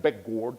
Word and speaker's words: Bechgaard: The first time I heard it pronounced by people from the Nordic country, I didn't even recognize the name. So this is something like Beckgord or something like this, anyway.